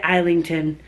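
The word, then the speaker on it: Islington: me I need to say I lington because when you say I and it's a silent s isn't it but I've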